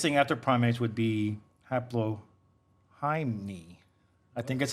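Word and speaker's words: Haplorhini: Editor Brad, how do you pronounce that? Haplorini.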